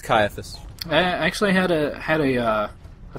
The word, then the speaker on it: Caiaphas: I can never pronounce his name. Cyphus? Cyphius? Cain? Oh, Caiaphas? Is that it? It's Caiaphas.